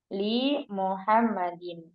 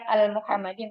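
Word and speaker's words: لِمُحَمَّدٍ: maka dia sambung ya bukan al Muhammadin tapi li Muhammadin. Banyak kan membacanya itu al Muhammad gitu ya, al Muhammadin salah ya. Bacanya li, lamnya dibaca kasrah.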